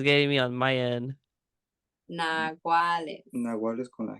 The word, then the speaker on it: naguales: called naguales.